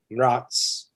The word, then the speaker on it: Mraz: And my last name, Mraz, is Slavic. It's from my family comes from Czechoslovakia, and it means frost. And if you actually say it right, it's Mraz, and it means frost, hence Cold Cactus.